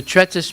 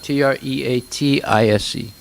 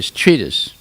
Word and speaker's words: treatise: c of virtue or or morality okay so tretis means like a a book explaining something look that up t-r-e-a-t-i-s-e t-r-e-a-t-i-s-c what does that mean t-r-e-a-t-i-s-c what's it